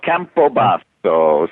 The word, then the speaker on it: Campobasso: It's Campobasso? No, Campobasso. So if you say it with an Italian flair, you'll never forget.